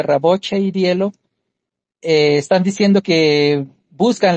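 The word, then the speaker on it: Рабочее дело: Eh, eso es lo que dijeron eh los este los de Raboch y Dielo, creo que se pronuncia Raboche y Dielo, eh están diciendo que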